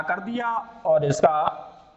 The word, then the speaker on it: द्य: अब इसका उच्चारण जो लोग कर देते हैं वो ध के रूप में कर देते हैं, ध धनुष वाला, जबकि वो अशुद्ध है।